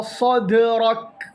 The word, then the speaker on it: صدرك: അലം നഷ്റഹ് ലക സദ്റക്. ലക സദ്, ദാൽ ഖൽഖല, ദാൽ ഖൽഖല. സദ്, സദ്, ദ് എന്നൊരു ഉച്ചാരണം അവിടെ വരണം. സദ്റക്. കാഫ് ഉച്ചരിക്കുമ്പോൾ സദ്റക് എന്ന് വരാൻ പാടില്ല. സദ്റക്, സദ്റക്. അതായത് കാഫിനെ ഖൽഖല ചെയ്യാൻ പാടില്ല.